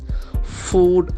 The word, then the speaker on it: food: Food, as we know, the pronunciation is a longer oo. Food, it's not food.